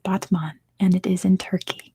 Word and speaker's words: Batman: It's spelled like Batman. It's pronounced Batman, and it is in Turkey.